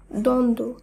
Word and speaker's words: দ্বন্দ্ব: যেমন উজ্জ্বল, সান্ত্বনা, মহত্ব, দ্বন্দ্ব, উচ্ছ্বাস, তত্ত্ব। লক্ষ্য করুন, এই প্রত্যেকটি শব্দেই যে যুক্তবর্ণ রয়েছে, শব্দগুলিকে যখন আমরা শুদ্ধভাবে উচ্চারণ করছি সেখানে কিন্তু বফলার উচ্চারণ বাদ দিয়ে শব্দগুলিকে উচ্চারণ করতে হচ্ছে।